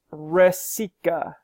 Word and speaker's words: Rasika: say your last name it's pronounced rasika Michael rasika which route are you writing